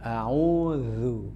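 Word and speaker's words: أعوذ: Zal zu ya. Apakah tebal apakah tipis? Zu itu ya. Ya walaupun dhammah ya tetap saja tipis. Oleh karena itu bacanya hati-hati, jangan sampai a'udzu ya. A'udzu. Ada meringgisnya sedikit gitu ya. A'udzu ya. Dan makhrajnya zal itu pojok lidah dengan pojok gigi atas ya, tanpa ditekan-tekan.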